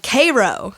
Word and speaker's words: Cairo: line system cells called Cairo spelled the same way but we say it Cairo there's also Vienna and